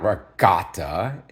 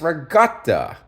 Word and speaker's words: ricotta: Masada and fresh Regatta now there's another Italian pronunciation most of you know it as ricotta cheese it's not ricotta not regut it's Regatta okay with a g in my mind right